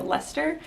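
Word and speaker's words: Leicester: wool from the bluefaced Lester and thanks everyone who taught me how to pronounce the word Lester there's a lot of extra letters in that word and yeah I definitely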